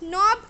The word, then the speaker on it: knob: Knob, K is silent.